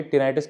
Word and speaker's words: tinnitus: तो दोस्तों, आज हम बात करेंगे टिनाइटिस के बारे में। इसको बोलते हैं बहुत से लोग देसी भाषा में टेटनास बोल देते हैं इसको। क्योंकि प्रोनाउंसिएशन थोड़ा इसका मुश्किल हो जाता है और इसको बोलते हैं